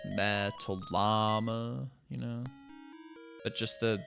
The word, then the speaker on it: Metallama: But like not the pronunciation, not the because it's Metallica. Whereas mine is Metallama, you know.